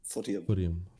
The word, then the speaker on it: Footium: Is that how you pronounce it? Footium.